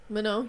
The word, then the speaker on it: Manon: Manon.